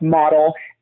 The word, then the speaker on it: Motel: it's spelled m-o-t-e-l like motel but it is pronounced model my characters ultimate wife um love interest her